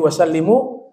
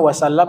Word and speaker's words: wasallam: Ya, kalau kita awali dengan sallallahu alaihi wasallam, kita bacanya wasallam bukan wasallim. Ya, bukan sallallahu alaihi wasallim misalnya.